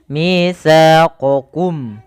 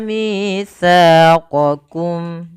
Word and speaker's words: مِيثَاقَكُمْ: Kemudian pada lafal qakum, ini kita harus membedakan antara huruf qaf dan huruf kaf ya teman-teman. Jangan sampai kita membacanya dengan mitsaqakum dengan huruf kedua-duanya huruf qaf. Padahal di sini yang pertama satu huruf qaf, yang kedua huruf kaf.